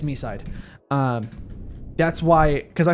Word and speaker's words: MiSide: like by my side like that's that's how I thought it could possibly be but it is me side.